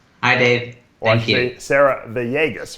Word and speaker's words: Villegas: Sarah Villegas, right? That's how it's pronounced? That's right. Yeah. Villegas, you got it.